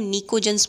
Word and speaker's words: pnicogens: Group 15 में नाइट्रोजन, phosphorus, arsenic, antimony और bismuth होते हैं, और ग्रुप 15 को कलेक्टिवली हम निकोजन्स बोलते हैं। पी साइलेंट है, PNICOGENS, निकोजन्स।